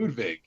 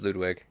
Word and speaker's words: Ludwig: it's Ludwig. No, it's Ludwig. It's Oh, well, I mean, German, you pronounce the W as a V.